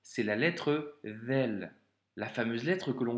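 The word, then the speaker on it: ذال: Donc, premièrement, la lettre Vel doit se prononcer comme si tu avais un cheveu sur la langue, hein. Donc, c'est pas un Z et c'est pas un D, c'est un V.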